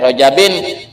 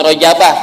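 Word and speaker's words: رجبٍ: Ya, Rajabin, kenapa bacanya bukan Rajabah? Ada Allahumma barik lana fi Rajabin wa sa'bana wa balikna Ramadan, jangan Rajabah.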